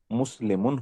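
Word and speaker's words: مسلم: हालत रफा में लफ्ज मुस्लिम क्या होता है? मुस्लिमुन होता है। हालत नसब में यह हो जाएगा मुस्लिम मन। माशा्लाह बिल्कुल सही। और हालत जर में ये हो जाएगा मुस्लिम।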